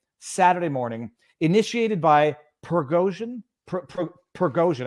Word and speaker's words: Prigozhin: morning initiated by pergosian progosian I think is his proper pronunciation uh who is the